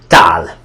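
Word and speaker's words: tál: Now, this word means plate, and it pronounces as tal.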